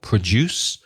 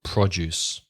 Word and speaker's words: produce: produced so the stress changes the verb has the stress on the second syllable produce and the noun on the first syllable produce and the word produce